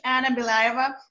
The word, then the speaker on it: Anna Belyaeva: My name is Anna Belyaeva. As you said, you pronounced really well.